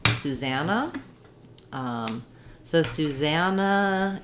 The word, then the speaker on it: Susanna: name susanna um so susannah is a little bit odd because we have two s's um and in the name susan we have su zun and in with first syllable stress but in susanna we stress in the middle syllable za so it sounds like suzanne no so thinking about that like sue zab black cat vow and no susanna um other places they